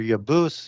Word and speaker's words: Jebus: That goes back to the Hebrew word Jebus or Yebus, as it would have been pronounced more closer to in the Hebrew, with the Y sound.